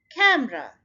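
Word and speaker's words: camera: आप ये देखिए इसके अंदर दो सिलेबल हैं, कैम एंड र। सो ये जो रा है यहाँ पर ये इसका आईपीए या फोनेमिक स्क्रिप्ट है, ये उल्टा ई आपको नजर आता है, इसकी साउंड अ की होती है। सो यहाँ पे जहाँ भी आप फोनेमिक स्क्रिप्ट में देखें, आपने स्ट्रेस फर्स्ट सिलेबल पे डाल के और इसको सिंपली र कह देना है, कैमरा।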